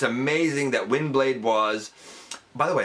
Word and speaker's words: Windblade: was by the way a lot of people call her wing blade i don't know why they say wing it's wind w-i-n-d i don't know where the kind of mispronunciation or whatever it comes from but it does exist it's wind blade um and it's so